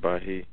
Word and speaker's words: Bahia: You pronounce it Bahia. But it's spelled with the same letters as Baha'i, as the religion.